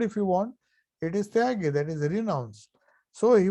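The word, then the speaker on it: त्यागी: word, tagi, which is in Bengali when they say tyagi, they pronounce it as tagi. So he says the essence of Gita in one word, if you want, it is tyagi, that is renounce.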